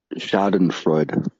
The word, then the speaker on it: Schadenfreude: Pronounced Schadenfreude. Schadenfreude. Freud? Freud, yes.